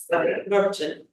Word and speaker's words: Norton: It's just Norton.